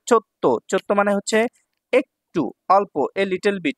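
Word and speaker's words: ちょっと: একসাথে টুগেদার তারপর দেখেন এখানে আছে চো এটা আছে ছোট তাহলে পরের বর্ণটা দুইবার উচ্চারণ হবে চো আর তো তাহলে তো দুইবার উচ্চারণ হলে কি হচ্ছে চত্ত চত্ত মানে হচ্ছে একটু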